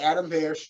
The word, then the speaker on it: Adam Pearce: You said it right, Adam Pearce.